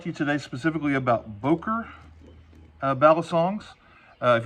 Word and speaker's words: Boker: Uh, the name of the company I'm pronouncing Boer, it's probably more correctly pronounced Booker. From what I understand, it's a German name and my German pronunciations are absolutely not good.